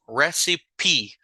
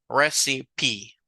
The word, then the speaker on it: recipe: Esta palabra sí lleva la E pronunciada. Recipe. La mayoría de palabras que tienen la E aislada atrás, se recuerdan ustedes que nosotros no las pronunciamos. Esta es una excepción. We do pronounce this word.